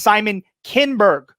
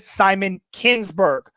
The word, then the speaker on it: Simon Kinberg: I didn't hear it, but he's admitting that he mispronounced the name. The correct answer is Simon Kinberg. He said Simon Kinsberg.